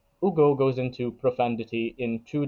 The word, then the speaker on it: Hugo: relation to profundity and Hugo interprets I'm sorry for pron pronouncing the H by the way I'm I'm I know that it's not meant to be there but Ugo goes into profundity in